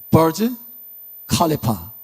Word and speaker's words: 부르즈 할리파: 버즈 칼리파. 부르즈 할리파라고도 해요. 발음상으로 이제.